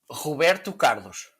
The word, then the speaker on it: Roberto Carlos: Roberto Carlos. It's like when I say backpack. You know, Okay. you roll your R's and it sounds cool.